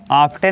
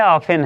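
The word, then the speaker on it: often: ऑफेन sometime ऑफेन ऑफेन ऑफ्टन नहीं है ऑफेन है इसको कहते हैं ऑफेन टी साइलेंट है ऑफ टीसी बहुत सारा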